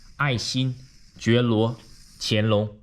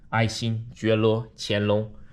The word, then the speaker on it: 爱新觉罗乾隆: His name is 爱新觉罗乾隆. Yes, his name has 6 syllables. Once again, 爱新觉罗乾隆.